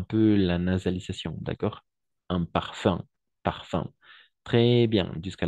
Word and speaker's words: parfum: parfum un parfum d'accord un parfum pas par fou de la même façon un parfum un peu la nasalisation d'accord un parfum un parfum très bien